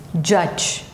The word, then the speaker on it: judge: Judge, judge.